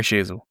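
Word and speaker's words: Sheezel: Surname rhymes with Cheezel. Harry Sheasel.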